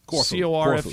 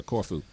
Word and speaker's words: Corfu: on the Greek island of, Michael, is it pronounced Corfu? Corfu. Yeah, Corfu.